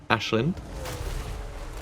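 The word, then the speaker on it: Aislinn: Uh do some hiles and uh yes, I am saying Ashlin. Uh the name's Irish.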